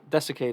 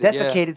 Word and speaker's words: desiccated: point of emanciation it's how do you say that word dissect it that's okay dusticated desiccated skin pulled tightly over